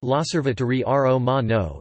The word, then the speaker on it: L'Osservatore Romano: L'Osservatore Romano, pronounced L'Osservatore Romano, Italian for the Roman Observer, is the daily